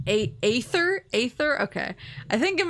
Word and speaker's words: Aether: so fast it's pronounced a ather Aether okay I think in my mind I'm like oh the a is silent it's ether but yeah a ather